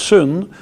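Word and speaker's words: σύν: the word sy n which in greek is pronounced soon and sometimes is translated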